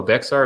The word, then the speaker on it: Bexar: some ways um oh bexar is pronounced like bear did you know that